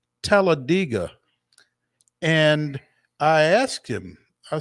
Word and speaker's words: Talladega: and he said yeah that's locals say it that way it's like dig a hole it's television tell a digger Talladega that is that